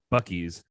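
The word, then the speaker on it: Buc-ee's: part of the the southern stroke Midwestern us Bucky's is spelled b-u-c-m-e-e-s Bucky's the log line on their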